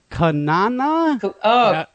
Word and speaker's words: Cunanan: I had a request actually, not to throw this right on you, but we had Andrew Phillip, and let me pronounce this. Cunanan.